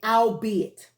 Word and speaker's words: albeit: It has 3 syllables in it. Al, be, and then it. So it's a 3-syllable word.